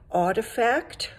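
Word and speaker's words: RTFKT: of um out of salt lake city called artifact it's not spelt like that but that's how you pronounce it and they do they did this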